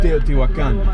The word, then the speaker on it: Teotihuacan: Here in, how do you pronounce the name of the city exactly? Teotihuacan. Teotihuacan.